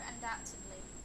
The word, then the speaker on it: undoubtedly: should say undoubt undoubtly so there's no B sound it's a silent letter undoubtedly undoubtedly okay so due